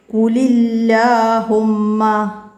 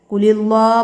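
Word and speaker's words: قل اللهم: പിന്നെ സുബ്ഹാനകല്ലാഹുമ്മ, സുബ്ഹാനകല്ലാഹുമ്മ, കുലില്ലാഹുമ്മ, കുലി അല്ലേ, കുലില്ലാ പറയരുത്, കുലില്ലാഹുമ്മ, കുലില്ലാഹുമ്മ. മനസ്സിലാക്കി ഉച്ചാരണം ക്ലിയർ ആക്കട്ടാ.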